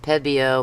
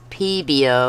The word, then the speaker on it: Pebeo: the longest time I thought this was pronounced peo but it's peo it even tells you